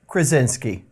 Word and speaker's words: Krasinski: I can't pronounce his last name. Krasinski.